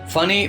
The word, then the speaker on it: Fani: করা কারণ এই দুজনেই তাকে ফানির বদলে ফ্যানি বলে ডেকে থাকেন উইলিস বলছেন মূর্খদের কটাক্ষ